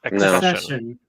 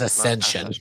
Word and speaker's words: Accession: 17 accession Ascension right no there's no oh it's assession I've always thought it was Ascension whoops Ascension is another